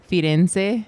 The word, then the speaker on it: Firenze: Firenze.